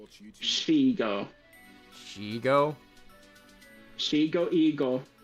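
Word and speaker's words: Shego: Shigo. Shigo? Shigo Eagle. Shigo Eagle. It's not Shiego.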